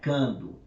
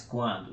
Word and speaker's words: quando: E o QU aqui, você pronuncia, né? Quando, você não pronuncia quando, mas quando. Então, esse U aqui, ele é uma semivogal, logo ele não é um dígrafo.